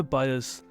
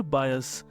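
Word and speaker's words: bias: दोस्तों हमारा अगला वर्ड है पक्षपात करना, और इसका इंग्लिश वर्ड है बायस, बायस। फिर से ध्यान दीजिएगा प्रोनाउंसिएशन पर, बायस। इसे बियास नहीं बोलेंगे, इसे बोलेंगे बायस।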